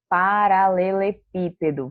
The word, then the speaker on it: paralelepípedo: nova posição número três ela é proparoxítona vamos ver aí a palavrinha paralelepípedo vamos sei que você